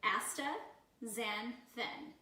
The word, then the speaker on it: astaxanthin: funky word for you so we're going to pronounce it for you AA zanin and it basically is a carotenoid and it's